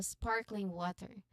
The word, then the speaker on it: sparkling water: So here we um we put emphasis on spark. So sparkling water. Sparkling water. First syllables of each word.